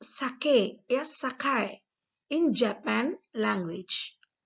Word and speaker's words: sake: Actually, the word sake, sake, is pronounced sake, sakai in Japan language. Sakay is the pronunciation in the Japanese language.